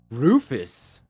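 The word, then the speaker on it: Rufus: Roffus that rhymes with like doofus.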